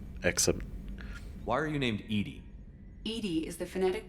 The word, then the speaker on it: EDI: Except, Why are you named Edie? EDI is the phonetic pronunciation of EDI.